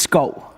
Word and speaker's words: Schou: Okay, but how do you really pronounce it? It's Schou.